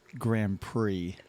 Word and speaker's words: Grand Prix: And by the way, it's Grand Prix. Oh, Grand Prix. Sorry, guys. It's all right. It's fine. It's early. It's fine. The X is silent.